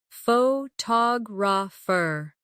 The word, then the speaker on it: photographer: Now, photographer. Notice how the stress changes when the word becomes longer.